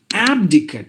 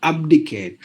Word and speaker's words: abdicate: anxiety apathy apparatus appetite but it should be ah like the word does in cat Matt the Asian cat Matt that's the symbol for that synonym ah like you you wide open your mouth and then you pronounce the sound ah so that's the sound you have to give Abacus Abby abdicate not abdicate abdomen no abdomen you have to say ah as in cat Matt rat fat abstain advert advertner adverb